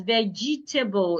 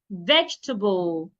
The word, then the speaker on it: vegetable: Some people will pronounce the word as vegetable. It is not vegetable. Say vegetable.